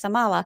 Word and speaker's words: Amala: a trump supporter yet her name rhymes with Kamala just saying and keep